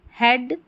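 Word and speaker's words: head: अब ये दूसरा ब्रेड, हेड, डेड, रेडी और वेदर, तो ई ए का ए साउंड आ रहा है। ब्रीड, ही, डीड, रीडी, ये वीदर ऐसे नहीं बोल रहे हैं ई ए को ई पढ़िए, नहीं, यहाँ पर ए पढ़ेंगे इन सारे स्पेलिंग्स में, ठीक है।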